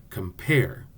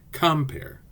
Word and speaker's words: compare: I am the accident is on the second syllable listen compare it sounds wrong if we say compare the word explain is an I am the